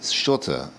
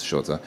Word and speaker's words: счёты: pronounced that quite correctly the pronunciation is a little bit tricky because there's an S and then right after that there's a sh sound so it's not some people just say sh or something like that but it's